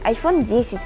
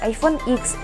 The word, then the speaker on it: iPhone X: iPhone 10, iPhone X. Какого-то единственно правильного варианта произношения вроде как не существует.